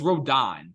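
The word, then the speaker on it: Rodón: down uh Carlos Rodan so many people mispronounce it it's Carlos Rodan like Carlos Rodan just well here's the accent then we replace okay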